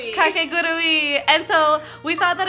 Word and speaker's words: Kakegurui: We've decided on Kakegurui. Kakegurui.